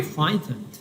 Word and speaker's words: frightened: And why was Mary frightened؟ Frightened GH اینجا غیر تلفظ نمیشه، هیچ تلفظ نمیشه.